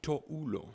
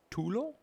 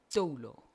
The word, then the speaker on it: toulo: So the singular for towel is tulo? Toulo. Tolo. Oh, Yes. I'm struggling with that pronunciation. Tolo. Toulo. All right.